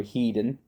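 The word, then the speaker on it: Hedin: Chancellor Heedan or Headen, whatever you want to whatever. Headen, let's just say Headen. That's the UK version of saying it. That's probably the correct way to say it.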